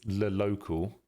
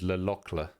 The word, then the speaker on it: Le Locle: apparently the American way of saying it is Le Local. And then the British way of saying it is Le Locle.